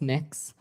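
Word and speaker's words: Mx: me what you're you're proposing it's pronounce mix um mix is that how you how would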